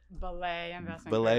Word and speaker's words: Belay: it's Eliza Bailey she's CEO and CIO of ballet Investment Group and she's here in Studio One thanks for joining us Chuck thanks for having me Michael and am I saying it right belay Investment Group that's right now you need to